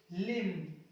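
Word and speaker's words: limb: अगला कंडेम, लिम, डैम, जैम, इन सब में आपको एम, एम को साइलेंट करना है, क्योंकि ये एम के बाद में आ रहा है।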